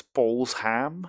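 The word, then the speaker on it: Balsham: Um, I'd also like to point out that that's not pronounced bullsh. That's balls ham.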